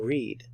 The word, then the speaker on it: read: it read I read when we are referring to the past we pronounce it I read I read I read